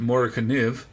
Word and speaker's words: Morakniv: That's sort of what the Americans tend to call it, Mora. I did go online and see how the Swedish, where it's made, pronounce it, and they pronounce it Morakniv.